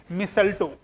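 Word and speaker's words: mistletoe: कुछ इस तरीके से, लिखते हैं कुछ ऐसे और प्रोनाउंस करते हैं मिसल्टो।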